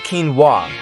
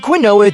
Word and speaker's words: quinoa: Next, we've got quinoa, pronounced quinoa.